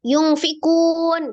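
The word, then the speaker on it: يُنفِقُونَ: Jadi kalau baca ikhfa jangan langsung yungfikun. Tadi kan bacanya gitu kan? Yungfikun gitu ya. Ditahan dulu, digunakan dulu. Yungfikun.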